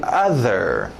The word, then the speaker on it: other: Lembra da pronúncia da sua mãe, mother, e meu irmão, brother, então mesmo other que nós queremos aqui, other. Other, other, other.